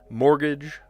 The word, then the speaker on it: mortgage: Silent T. Mortgage.